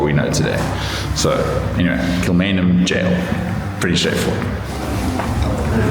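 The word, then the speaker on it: Kilmainham Gaol: It's Kilmainham Jail, even though it's spelled g o a l.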